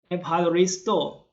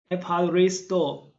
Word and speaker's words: Ευχαριστώ: thank you in greek empire store aparri store remember to cut your air in the last syllable empire restore see you ciao